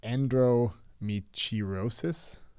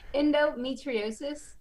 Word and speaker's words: endometriosis: So endometriosis. Not endometriosis. Yeah.